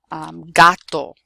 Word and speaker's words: gato: G-O, G-A, G-U, or G plus a consonant, it will be pronounced G. So for example, gota, which is like a drop, like a raindrop. Gato, cat. Gusto, mucho gusto. Or gracias, okay? The g, the hard g sound. So you have to pay attention to the word that comes after it. Just be careful with the letter G never to make a j sound.